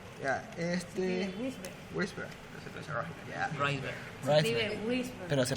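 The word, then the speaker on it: Wrisberg: El 7 bis es el intermediario de Weisberg, como que tienen, pero aquí no dicen cuándo. Reisberg. Ya, Weisberg, ya. Reisberg. Escribe whisper. Pero se pronuncia pronuncia Rice.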